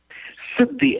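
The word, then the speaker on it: Siddhi: do you spell that pardon how do you spell that Sidi s i d d h i Sidi Sid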